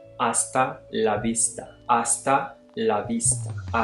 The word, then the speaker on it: hasta: You can also say hasta la vista, hasta la vista, hasta la vista, hasta la vista. Note here that the H is silent, and so instead of saying hasta, you say hasta la vista.